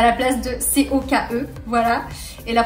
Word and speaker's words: Coke: Lorsque vous voulez commander du coca, il faut bien dire coke. Coke. Il se prononce vraiment comme ça, vous insistez. Parce que si vous dites coq, à la française vraiment basique, comme quand je suis arrivée, ça veut dire tout autre chose.